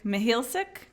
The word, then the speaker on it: Mihealsick: and here we are today I have Mihal sick did I pronounce it okay that's right I was asking